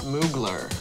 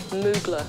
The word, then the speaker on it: Mugler: How do you pronounce Mugler. It? Mugler. Mugler.